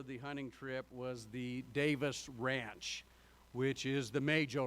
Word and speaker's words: Davies: He was from Wales, and in Welsh, you pronounce what looks like Davies to English speakers as Davis.